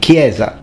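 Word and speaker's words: chiesa: and crazy I mean everyone knows it's pronounced Gamba and kiesa but for future Italians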